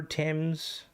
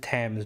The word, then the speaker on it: Thames: Well, you pronounce it Thames, but it's spelled...